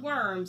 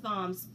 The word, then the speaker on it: Worms: is a city in modern-day Germany and not worms I know it looks like worms but it's pronounced bombs and he is found guilty of heresy but